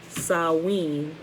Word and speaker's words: Samhain: feast of the dead samhain pronounced salween and was on november